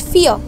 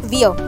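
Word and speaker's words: vier: is called fear and remember v is always pronounced as f so we say it fear not veer fear five is called funes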